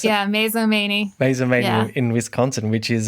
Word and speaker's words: Mazomanie: Is that how you pronounce it? Yeah, Mazomanie.